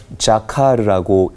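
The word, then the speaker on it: זָכַר: 히브리어로 기억하다라는 단어는 자카르라고 읽고 발음을 합니다.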